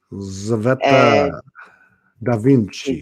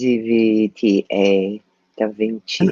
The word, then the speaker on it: Tzveta DaVinci: Tzveta DaVinci. It's Zvta Da Vinci. I know how to spell it.